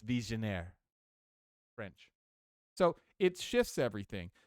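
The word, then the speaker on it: Vigenère: Visionaire. That's how you say it. I remember looking that up last year. Vigneri. You look at this cipher. Vigneri. I thought it was Vigneri, but you look online, you go, it's Visionaire.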